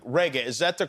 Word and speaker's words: Regé: And when you have a name like Reggae, is that the correct way to say it? That is the correct pronunciation. Sounds like the music, spelled different.